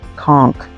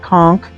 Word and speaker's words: conch: beautiful color of silk conchk. Now, it's spelled C O N C H, and it's after a shell. And people in the south call it conchk, and us northerners call it conch.